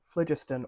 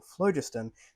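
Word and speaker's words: phlogiston: the dangerous use of flagistan or flojustin depending on where you're pronouncing it from George has entered a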